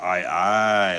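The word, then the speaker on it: aye-aye: Oh, it's pronounced I I like I I captain.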